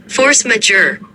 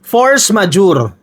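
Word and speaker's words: force majeure: Force major. Tayo mga Pilipino majuri ang basa natin no. Pero ang tamang pronunciation po niyan ay force majure.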